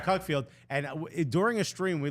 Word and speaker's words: Cuckfield: pronounce it Cookfield, but it's from Cuckfield.